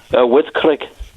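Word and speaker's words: Wyddgrug: And I think it's actually pronounced Withcrig.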